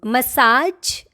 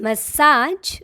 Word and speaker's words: massage: How do you say this one? Massage? No, don't call it massage. The right way to say this word is massage. Massage. J. And as I have already told you, you have to learn this sound even if it is difficult for you. Why? Because there are plenty of words which are made up of this sound. So you must work on this sound.